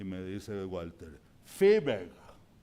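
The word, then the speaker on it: Viehweg: alemán que se llamaba Wigweg, y me dice Walter, Fiebeg. En ese tiempo yo no sabía que la V en alemán se pronuncia F. ¿Se acuerda de eso? Sí. Fiebeg.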